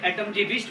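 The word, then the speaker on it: Atomgewicht: क्योंकि letter A निकला है एक जर्मन वर्ड एटॉमजीविच से, ATOMGEWICH इसकी स्पेलिंग है। एटॉमजीविच बोल सकते हैं आप इसको, यानी कि जिसका मतलब होता है एटॉमिक वेट।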